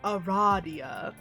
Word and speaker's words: Aradia: loud because she immediately corrects you it is pronounced eradia anyway already her fate i really i love